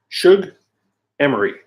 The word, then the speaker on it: Shug Emery: Sugar Murray. Shug Emery. That's what it is.